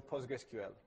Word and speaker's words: PostgreSQL: list goes down so it's either pogress or postgressql but pogress is much